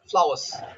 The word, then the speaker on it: flowers: accent, then we say flowers with the R, Flowers. flowers. Flowers. They tend to pronounce the R, flowers.